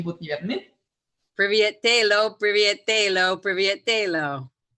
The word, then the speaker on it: тело: Telo, T-E-L-O, is that how you say it? Тело, yeah, body, тело.